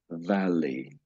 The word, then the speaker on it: valley: Turn that middle bit to a W. So it's valley. Valley.